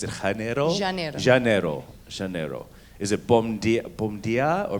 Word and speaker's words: bom dia: Is it bom dia or how do you say good morning? Bom dia.